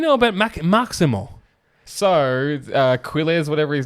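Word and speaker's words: Quiles: So Quz, whatever his name is, he trains with the Marquez brothers. The Marquez So it's pronounced Kelesz.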